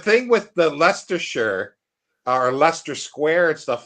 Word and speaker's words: Leicester: I always pronounced it as Leicester. Leicester. I thought in my mind it was Leicester because I never connected the two.